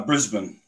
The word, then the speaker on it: Brisbane: How is it pronounced? No, Brisbane.